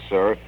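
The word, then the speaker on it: Cyr: sent in by maurice sir and i'm going to spell that because i don't want to mispronounce anyone's name but c-y-r i believe it's pronounced sir of westport connecticut it's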